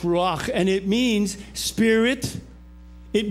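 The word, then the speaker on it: רוח: In fact, in the Hebrew Bible, the word is pronounced ruach and it means spirit, it means wind, and it means breath.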